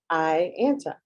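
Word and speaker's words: AIANTA: Rupert, CEO of the American Indian Alaska Native Tourism Association, pronounced IANTA.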